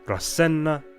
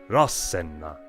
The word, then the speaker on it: Rasenna: It's a major clue that Etruscan words started with a heavy accent on their first syllable. Not Rasenna, but Rasenna.